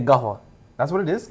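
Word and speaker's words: قهوة: Do you know what Arabs say? Wait. Gahwa. What is it? Gahwa. Or Gahwa. It depends where you're from, but like Gahwal?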